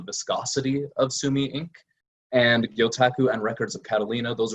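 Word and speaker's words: 魚拓: pronunciation guide there gyota gyotaku is the proper way to say it if you've got the japanese intonation and gyotaku it literally means fish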